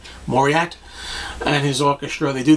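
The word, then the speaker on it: Paul Mauriat: pull I don't exactly I always pronounce this Paul maurier isn't the T silent Paul maurier Mari morier moriat and his orchestra they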